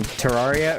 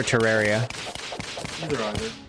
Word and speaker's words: Terraria: All right, Balth, which is the correct pronunciation? Terraria or Terraria? Either.